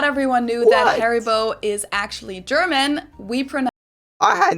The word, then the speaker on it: Haribo: Pronounce it Haribo.